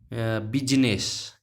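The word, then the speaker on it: business: क्या है, बिजनेस, आई साइलेंट रहेगा इसमें। ये जो एस के बाद आई आ रहा है ये साइलेंट है, ये इसको बिजनेस नहीं पढ़ेंगे, बिजनेस। बी जेड, एस से जगह देने आ रही है, जेड आ जाएगा, ये नेस, नेस।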